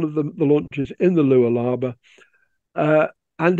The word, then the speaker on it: Lualaba: and then there's going to be the river Lualaba, let's say it properly. And there's a photograph of one of the launches in the Lualaba.